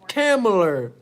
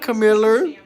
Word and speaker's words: Kamala: Her name is pronounced Kamala, not Camilla.